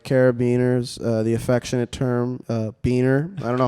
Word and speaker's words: biner: Like I left a beaner at the gym. It's like, wait, what? Dude, that's what they call them. BINER, not the other one. That's how it's spelled.